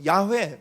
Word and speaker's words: 야훼: 그래서 우리가 여호와라고도 하지만 또 이제 그 야훼 뭐 이런 말도 들어보셨죠? 예, 똑같은 히브리어 글자인데 이거 아마 여호와라고 읽는 게 맞을 거야 라는 이제 설이 있고, 또 야훼라고 읽는 게